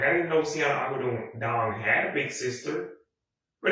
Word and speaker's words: Agudong: Yeah, it's pronounced the way it sounds. A is like the lowercase o. Goo is GU, but instead of GOO, it's like GU. So it's Goo, then Dong, DONG, Dong.